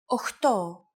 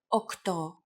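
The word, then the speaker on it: οχτώ: Sometimes, though, especially in casual conversation, Greeks also use efta instead of epta, ochto instead of okto, and ennia instead of enea.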